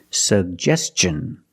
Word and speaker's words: suggestion: Suggestion. And T-I-O-N, the T makes the ch sound. So together, suggestion. Suggestion. Put the stress on the second syllable.